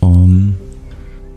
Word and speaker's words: Om: And it's pronounced Om. So it's two sounds.